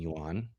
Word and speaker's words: yuan: China buys it in yuan. Okay. Japan buys it. How do you say the currency? Yuan. Like, okay. Yeah, it sounds like yen, I guess.